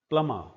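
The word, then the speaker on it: plumber: म और ब जब कभी भी इकट्ठे होते हैं तो ब को नहीं बोला जाता। ये शब्द है प्लम। प्लमर प्लमर pneumatic pneumatic air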